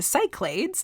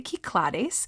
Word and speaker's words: Cyclades: the kiklares or again you may have heard this pronounced before the American way the Cyclades which I just learned